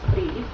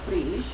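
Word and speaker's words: Brigid: off and talking about the goddess breed or Bri or bridg or Bridget or any of these variants of her Celtic name and if you'll notice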